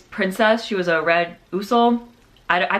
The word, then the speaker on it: Usul: She was a red Usul. I pronounced it Usul. I know it's pronounced Usul, but I'm not going to pronounce it that way because that's not how I grew up pronouncing it.